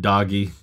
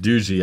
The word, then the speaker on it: Doogee: for those curious um you're tempted to pronounce it doggy or Doogie but it's pronounced duji I guess and um